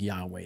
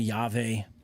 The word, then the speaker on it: Yahweh: divine name basically right the tetragrammaton from what we know would have been pronounced something much more like Yahweh than any of the other names you hear maybe you could say yave you know I guess